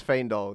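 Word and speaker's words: Faendal: Next we have Fandal or Fandal. It's Fandol. That's how you pronounce it.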